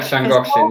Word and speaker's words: Llangollen: Yeah, Llangollen. Yeah. Yeah. Did I pronounce that correctly? Slan, yeah, the double L, the sla. Yeah, it's quite tricky to pronounce, but that's the one, yeah.